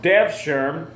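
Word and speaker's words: Devşirme: The Ottoman Devshirme, and that's how that's pronounced, Devshirme, who were military professionals.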